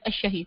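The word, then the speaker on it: الشهيد: अशहीद ठीक है, लाम साइलेंट जी।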